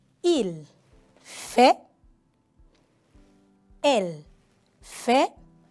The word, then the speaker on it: fait: Il fait. Elle fait. Tampoco la T no se pronuncia.